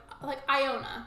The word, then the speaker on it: Iona: It's like Ione with an A, so it's like Iona, like that, Iona.